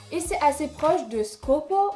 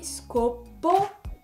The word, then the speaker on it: Scoppio: if you're French and you don't pronounce the double p (it's really important in the pronunciation) and you forget the i...